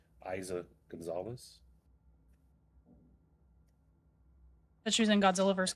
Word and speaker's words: Eiza González: It looks like Eliza without an L. Eiza González.